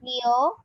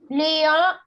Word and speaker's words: Lyon: And for Leon, city, there also will not pronounce that N.